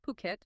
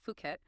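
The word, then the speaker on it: Phuket: And just a quick note, that's pronounced Puket, not Fuket.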